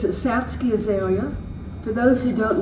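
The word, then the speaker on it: Satsuki: And that is spelled s a ts u k i. But the u is not pronounced. It's satski.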